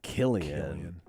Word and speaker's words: Cillian: Their name Cillian, hard C. And the hard C is so much cooler than the soft C. Cillian.